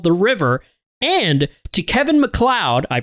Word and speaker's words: MacLeod: Big thank you also to rolemusic for providing our awesome intro song titled The River, and to Kevin MacLeod, I pronounced it correctly this time, for the songs